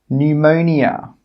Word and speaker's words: pneumonia: The letter P is normally not pronounced when it's at the start of a word which starts with PN, PS, or PT. Some example words are pneumonia, psychology, pterodactyl. In all of these words, we are not pronouncing the P. It is silent.